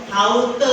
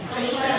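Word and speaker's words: Häute: salah kan iya iya pada kata haute tadi katanya kan harusnya maksudnya apa ini haute haut itu kulit artinya maksudnya apa ini? Hoi. Hoiter. Iya, hoiter. Jadi apa kegiatan waktu luang mereka yang kelompok satu?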